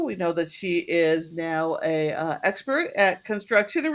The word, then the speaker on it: Noh: tell you every time it's no opposite of yes well I think I